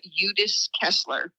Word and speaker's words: Udis-Kessler: Udis-Kessler.